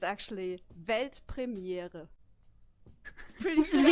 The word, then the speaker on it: Weltpremiere: It's actually Weltpremiere. Pretty simple, right? I can do that. Yeah, do it. Weltpremiere.